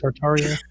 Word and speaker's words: Tartaria: Tartaria.